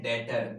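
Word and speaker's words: debtor: वो क्या होते हैं, डेटर, बी साइलेंट होता है, जिनसे पैसा लेना होगा।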